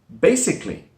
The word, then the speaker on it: basically: Number 5, basically. Basically. Right, this word looks like basically, the way it's written. Basically, with that stress, basically. That third syllable, the schwa sound is dropped. So it sounds like basically.